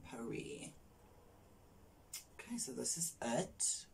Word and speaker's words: Paris: primer from l'oreal perry some of you guys might pronounce it paris i pronounce it perry okay so this is